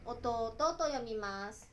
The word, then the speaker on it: 弟: Comme exemple d'utilisation de "otouto", dessinez le mot "弟" et lisez-le comme "otouto".